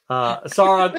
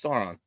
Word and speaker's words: Sauron: I name incorrectly uh sain sain uh sron however you want to pronounce it s San saon or san however you kind cool like but that no it's Sauron just okay well no